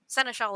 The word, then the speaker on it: Ciel: that type of stuff so cell it was cell is an excellent word but yeah like Lily it's one of those that I've seen written down and never bothered to learn actually how to pronounce until now we've all had those